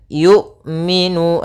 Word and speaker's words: yu'minu: Kemudian yu'minu, hati-hati jangan sampai terbaca dengan jangan dibaca dengan ain. Sering juga terjadi kesalahan adalah membacanya dengan ain.